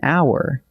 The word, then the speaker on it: hour: We say an hour because the H is silent, so it actually begins with a vowel sound.